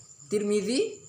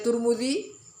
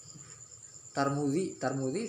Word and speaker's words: Tirmidzi: Kalau ada yang di orang baca Tirmidzi, ya benar. Baca Turmudi, benar. Baca Tarmizi, benar. Yang salah apa kira-kira? Tarmudi salah. Ya.